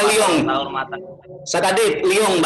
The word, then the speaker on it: Lyon: Salam kenal dari Lyon, Prancis. Saya mau Lyon, bacanya Lyon.